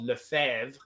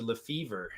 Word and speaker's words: Lefebvre: An example of that is there's a French name called Lefebvre, and but then it's been brutally anglicized to Lefevre, and I've met guys who are like, yeah, like I've never heard of Lefebvre. My name's Lefevre.